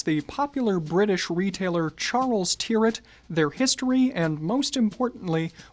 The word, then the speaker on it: Tyrwhitt: across the pond, Charles Tyrwhitt. On the topic of pronunciation, the brand says that the last name rhymes with the word spirit.